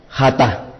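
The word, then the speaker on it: jatat: es el conocido como jata y al final con h J a t a H es hata o también algunas veces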